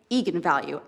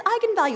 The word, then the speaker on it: eigenvalue: the directors that yes that is how you pronounce it so I went out there and said that's right egon value and then apparently the internet went nuts when